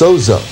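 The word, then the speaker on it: Zoso: Most rock fans will recognize this hieroglyphic, commonly pronounced Sozo, as the unofficial name for Led Zeppelin's untitled fourth album and the personal symbol for Zeppelin's founder, Jimmy Page.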